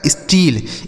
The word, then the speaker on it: steal: तो यस से आधा स, टी से हो जाएगा ट, और EA का उच्चारण यहाँ बड़ी ई हो जाता है, यल से ल। यह लिखा गया आपका स्टील।